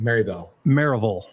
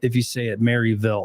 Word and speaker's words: Maryville: it's what's funny is it's spelled Maryville, but you say it Maryville. That's how people say it. They'll know you're not local if you say it Maryville.